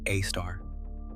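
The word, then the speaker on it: Sagittarius A*: The one at the center of our Milky Way is called Sagittarius A, pronounced A star.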